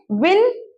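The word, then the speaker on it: win: है आगे बढ़ते हैं विन वन वन अब विन में प्लीज विंड मत कर दीजिएगा विंड हवा हो जाएगी विन यानी कि जीतना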